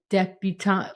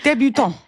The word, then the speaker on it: debutante: I feel like I should be saying it like more French and like cut off a letter or something. Débutant. A débutant ball. You can call it a debutante if you want.